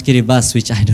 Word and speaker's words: Kiribati: a country called Kiribati the spelling is Kiribati but we have to pronounce carry bus which I do not